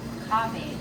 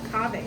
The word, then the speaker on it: Kahve: And how do you pronounce it? Kahve. Kahve.